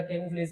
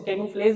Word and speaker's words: camouflage: तो इसका क्या हो जाएगा बेटा, कैमोफ्लेज का स्पेलिंग यही होता है, कैमोफ्लेज, इसको कैमोफ्लेज भी बोलती है और कैमोफ्लाज भी बोलती है।